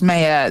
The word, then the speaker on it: Mayer: So I think it's just easy to assume that because it's pronounced Mayer, that it sounds like it's got an A instead of an E.